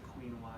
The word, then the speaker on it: quinoa: You might have to pronounce it quinoa. It's not. It's quinoa.